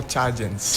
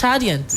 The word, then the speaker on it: Chadians: So, people from Chad I'll call chargeants. Chadians. Yes, please. Chadians. Yes, please. Why did he Why did he hear something else? No, he he did not hear the N. The N. That's why you say Chad. All right. It's Chadians.